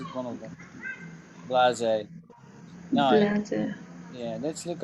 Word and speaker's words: blasé: We'd say blasé. Blasé. Blase. And blasé sounds a bit like blazer.